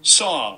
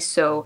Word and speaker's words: saw: Saw. Let me just check. Saw. Yeah, saw. And I keep saying so.